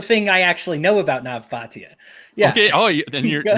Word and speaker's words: Nav Bhatia: But you're about to talk about the thing I actually know about Nav Bhatia. Yeah. Okay. Oh, then you're pronouncing his name.